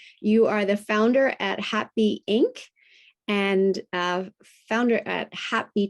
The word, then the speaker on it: HAPBEE: People think it's happy spelled like the emotion, but that was the play on words. It's actually HAPBEE because our logo is a bee, right? A little bumblebee.